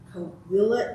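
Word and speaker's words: Cahuilla: And she is a tribal member of the Torres Martinez Desert Coahuila Indians. For more than, did I mispronounce that? It's Coahuila, like Coahuila. the Spanish double L.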